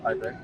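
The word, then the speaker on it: abeg: I beg. So after pronouncing it so long, it now forms to be I beg. I beg. I beg. A-B-E-G.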